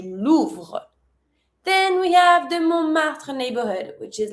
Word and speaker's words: Montmartre: We call that Montmartre and you don't pronounce the T. Montmartre.